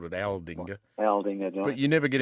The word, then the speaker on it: Aldinga: You can tell me what the other place was, because I think I called it Aldinga or Aldinga. Which one? Aldinga is what it is. You called it Aldinga.